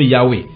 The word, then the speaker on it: Yahweh: D'autres prononcent sur la forme Yahweh, qui n'est pas le nom de Dieu, mais